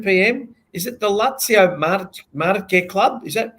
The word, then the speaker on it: Lazio Marche: Is it the Lazio Marche Club? Is that how you pronounce it? Lazio Marche? That's right. Yep. Lazio Marche Club.